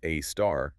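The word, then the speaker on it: Sagittarius A*: We have Sagittarius A, pronounced a star, at our center, s about 4 million times the mass of the sun, right?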